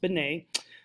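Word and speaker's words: Binet: 1900s with a man named Alfred Benet let's pronounced Benet who uh actually was tasked by the French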